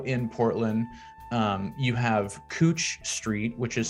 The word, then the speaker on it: Couch: portland um you have cooch street which is spelled like couch so c-o-u-c-h cooch not couch and if you're looking